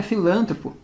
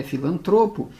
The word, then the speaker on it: filantropo: Pois é, não é filântropo, é filantropo.